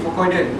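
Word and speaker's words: Fucoidan: Pronounced Fukoiden.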